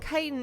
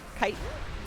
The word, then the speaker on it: chitin: Is that how you say it? Kitan. I think so. Um, it's what I'm going with anyway. I think I think I've said chitan for long enough and I don't think that's it.